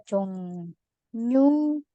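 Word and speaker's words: 정류장: Di sini kita akan baca 종유장. Kenapa? Karena ketika bunyi ieng, kemudian ketemu sama real, itu sama aja bacanya seperti ieng dan nien. Jadi bukan 종류 tapi 종류. Realnya jadi huruf N.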